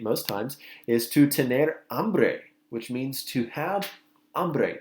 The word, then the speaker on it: hambre: Hambre, hombre. Hambre, hombre, okay? This is also not hombre, okay? Be careful. The H is silent in Spanish, so we say hambre, hombre.